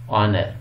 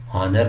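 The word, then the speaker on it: honour: क्योंकि इसकी जो साउंड है वो एच इस प्रोनाउंस नहीं होता. एयर, ऑनर, आर. ठीक है, हावर नहीं कहेंगे, हॉनर नहीं कहेंगे, हेयर नहीं कहेंगे.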